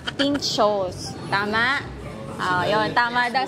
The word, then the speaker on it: pintxos: Guys, alam nyo ba, kanina pa ako ng pinto. Mali pala yung pronunciation ko. Ano pala? Pinchos.